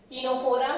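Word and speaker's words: Ctenophora: दोनों के अंदर, सिलेंड्रेटा का दूसरा नाम निडेरिया, दोनों के अंदर सी साइलेंट है, टीनोफोरा सी साइलेंट, निडेरिया सी साइलेंट, ओके।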